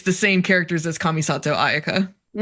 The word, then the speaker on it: Kamisato Ayaka: you know, oh no, in Japanese you would pronounce this Kamisato Aayaka.